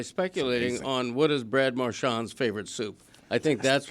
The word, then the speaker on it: Marchand: But I'm bringing together the two sides here by speculating on what is Brad Marchand's favorite soup.